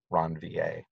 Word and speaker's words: Ranvier: Nodes of Ranvier. It's a French name, so it's spelled R-A-N-V, as in Victor, I-E-R, Ranvier. Almost everybody calls them nodes of Ranvier.